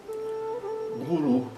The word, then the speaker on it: guru: Não, a pronúncia é exatamente como do U em português e se escreve no sânscrito transliterado como um u sem o tracinho em cima.